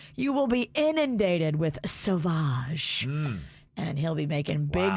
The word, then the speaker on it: Sauvage: it sound sexy savage what spelled s-a-v-a-g-e no it's s-a-u-v-a-g-e it's savage but with a little oh with a so yeah all he'll have